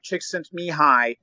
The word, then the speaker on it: Csikszentmihalyi: Sir Mihaly Csikszentmihalyi, originally from Hungary, who later moved to the U.S.